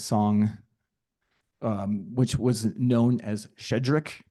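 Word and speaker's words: Щедрик: This song, which was known as Shedrik. So the pronunciation SHCH is like a sh. So Shedrik is about the idea that there's bounty to the season.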